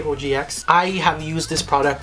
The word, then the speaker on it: OGX: body wash by organics or OGX is how you say oh gee X I have used this